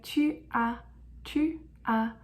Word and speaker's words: tu as: Next, we have tu as, which is you have. Tu as. And remember, we don't pronounce the S at the end.